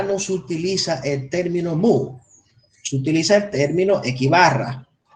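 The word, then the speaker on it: μ: Entonces, tenemos que símbolo griego que se pronuncia como mu. Mu. Hay otra gente que lo pronuncian miu. También le dicen miu. Vamos a ponérselo. También lo pronuncian como miu. Y ese símbolo griego representa la media aritmética poblacional.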